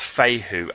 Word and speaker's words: Fehu: Okay, so you could think it's FEHU or something, but it's pronounced FEHU, as in FAYHOO.